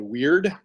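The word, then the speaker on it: wyrd: the big ones is a skill called weird and it's spelled w y r-d and what that does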